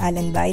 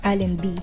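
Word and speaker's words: Allenby: Actually um alin B ako ng Allen by late ko na lang na-realize na ang tamang pagpronounce pala ng lugar is Allen B sa Allen B 21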